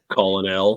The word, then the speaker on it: colonel: It was like Colonel. So stupid. Colonel.